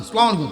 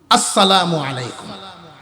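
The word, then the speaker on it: السلام عليكم: ইংরেজি সালাম সালাম আলাইকুম আসালামু আলাইকুম লেঙ্গুর নাই এরকম আছে রাজনীতির সালাম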